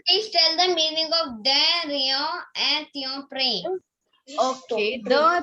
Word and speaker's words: de rien: Write down the pronunciation. De rien.